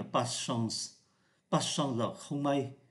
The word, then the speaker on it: pas de chance: Ở đây chúng ta để ý là không phát âm ký tự ơ giữa như thế này. Người ta không phát âm mạnh là pas de chance, mà đọc nhanh là pas chance.